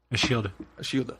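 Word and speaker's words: Ashildr: Ashilda? A shield. Ashilda. Ashilda. A shield. A shield. Yeah, a shield. The R is silent.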